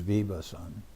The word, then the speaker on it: Vivasvan: From the Bhagavad Gita, Imam Vivasvate Yogam Vivasan, Imam Vivasvate Yogam Vivasvan is the name of the predominating deity of the sun. So we pronounce it sometimes Vivasan.